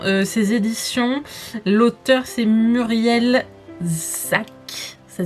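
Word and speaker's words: Szac: L'auteur, c'est Muriel Zac. Ça s'écrit S-Z-A-C.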